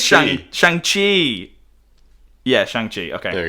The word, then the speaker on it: Shang-Chi: Maybe Shanghai Shang-Chi, I think I'm saying it wrong, is set... Shanghai is a place. I know, that's why but I think it's Shang-Chi. Bye. Let me Google it. It is Shang-Chi.